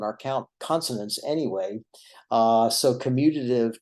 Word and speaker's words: commutative: sometimes people mispronounce this word uh it's sometimes pronounced like communitive and that is particularly the case here in the south where we tend to uh go a little soft on our consonants anyway uh so commutative commutative don't really sound all that much different commutative